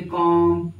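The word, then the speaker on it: comb: हुए हैं आपके सामने कॉम बम थम ये सारी चीजों को हम लोग पढ़ते कैसे हैं कॉम बम ये जो बी वर्ड होता है ना ये साइलेंट होता है कभी-कभी प्रोनंसिएशन के केसेस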